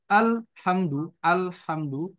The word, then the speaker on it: الحمد: Sedangkan yang Komariah, ya, dia itu diidharkan, dijelaskan. Alham, al, alhamdu, alhamdu.